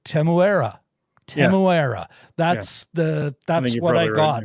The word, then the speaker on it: Temuera: I looked it up actually, and there's kind of an Australian twang when an Australian's doing it, but the best I could of it, Temuera.